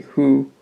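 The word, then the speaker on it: ふ: Which the hu is, it's spelled in a way that you would think it's fu, but it's actually hu, which explains why it's in that row.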